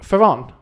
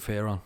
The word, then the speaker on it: Fearon: Today we have a special guest, is it Fearon? How would you pronounce it? Fearon? You pronounce it Fearon, I pronounce it Fearon. Fearon. Yeah. To get your fear on.